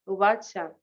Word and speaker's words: Uvacha: Ubacha, ubacha, ubacha, Ajá. La A se pronuncia un ubacha, poquito, la primera A se pronuncia un poquito más larga.